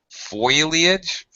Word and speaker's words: foliage: Foliage is another case of metathesis.